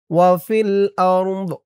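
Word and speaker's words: وفي الأرض: ওয়া ফিল আরদ আরদ এই তো চিহ্নতে অক্ফ করার কারণে দদের নিচে জেরটা সাকিন হয়ে যাবে। উচ্চারণটা কেমন হবে খেয়াল করুন। ওয়া ফিল আরদ ওয়া হুয়াল্লাহু ফিস সামাওয়াতি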